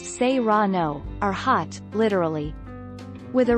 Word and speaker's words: serrano: mark take our lead serrano peppers pronounced seirano are hot literally with